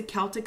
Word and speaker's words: Celtic: so that was a celtic celtic whatever you know pronunciation works for you I used to say Salta can I say now I say Celtic so I'm just like